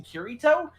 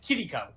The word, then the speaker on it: Kirito: And the funny part was, though, he kept mispronouncing Kirito and was pronouncing it Kiriko.